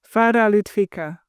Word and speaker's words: Farah Lutvica: So, Farah, right? Yes. Said the American way. How do you say it the proper way? Farah Lutvica.